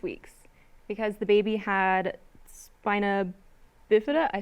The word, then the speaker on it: spina bifida: removed at 26 weeks because the baby had spina bifida? I said that wrong. Yeah. No, you said it right. Yeah, spina bifida.